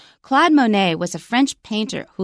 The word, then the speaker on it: Claude Monet: okay our first sentence Cloud Monet and actually it's Claude Monet in French but we use an American pronunciation Claude Monet was a French painter